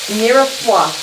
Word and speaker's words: mirepoix: The correct mirepoix. You what? Mirepoix. It's like, I think it's spelled M-I-R-E-P-O-I-X.